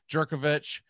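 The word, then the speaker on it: Jurkovec: quarterback position with uh i believe he pronounces his name djerkovich phil djerkovich he he was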